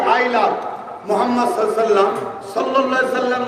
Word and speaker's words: মুহাম্মদ: খেয়াল করতে কোন নবীর নাম নিলে দুই ঠোঁটে ঠোঁট ঠেকছে, বলুন মুহাম্মদ। আমার নবীর নাম চুমা না দিয়ে পৃথিবীর কেউ নিতে পারবে এমন মায়ের লাল আছে কি?